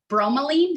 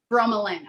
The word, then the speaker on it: bromelain: Bromelain, did you say? Is that what we called it? It's bromelain. Bromelain, okay, thanks.